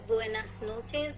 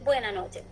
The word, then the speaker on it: buenas noches: Like for example, if it is buenas noches, they don't say nas, they say buena noche, and that also they say in a speed.